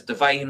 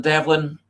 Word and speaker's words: Devine: says on the screen, it's Divine rather than rather than Devlin. Um it could be my accent. It could be the way that I pronounced it.